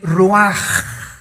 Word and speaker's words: ruach: El Ruaj. que se escribe r u a c h ruach en el hebreo y se pronuncia igual ruaj.